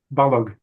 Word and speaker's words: Balogh: Oh, Balogh. Balogh.